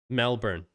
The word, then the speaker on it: Melbourne: So take that born and turn it into burn. Melbourne.